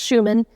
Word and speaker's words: Schuman: And yes, it's pronounced Schumann. He was an American, and he used an anglicized pronunciation of his name.